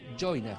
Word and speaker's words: Joinus: ingresas a la plataforma de Joinas, que se escribe Joinus.